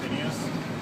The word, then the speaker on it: Phinehas: are and what you do with the band Phinehas. I'm pronouncing that right?